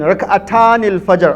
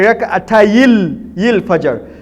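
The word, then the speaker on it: ركعتي الفجر: But the correct pronunciation is to delete the noon. We say Rak'atayil Fajr. If you delete the noon, it will be ya. Then you put the kasra on that ya. You say Rak'atayil Fajr.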